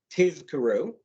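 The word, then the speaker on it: תזכרו: will remember the mitzvot, must be pronounced in an unusual manner. The Z sound in tizkaru has to be prolonged so that the word is not mistaken for tizkaru, which would mean in order that you receive a reward.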